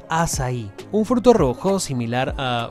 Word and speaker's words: açaí: Al salir, nos topamos con un puesto de helados de acai, o como se pronuncia en portugués, açaí, un fruto rojo similar a un arándano que se cosecha en las selvas tropicales de Sudamérica.